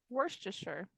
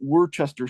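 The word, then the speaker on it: Worcester: you put on steaks Worster yes exactly Worster not Worchester Shire right so it's it's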